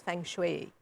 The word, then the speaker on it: Feng Shui: Well, Feng Shui is in fact pronounced as Feng Shui.